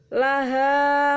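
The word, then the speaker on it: لَهَا: Kemudian laha makasabat wa 'alaiha maktasabat ya. Jadi la bukan liha ya.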